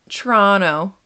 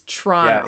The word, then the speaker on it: Toronto: Toronto is Toronto. Yeah, it absolutely depends who I'm talking to, how I say Toronto. First off, you never pronounce the second T.